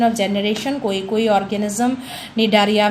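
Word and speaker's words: Cnidaria: Next phylum है निडारिया। Okay, C is silent, निडारिया phylum.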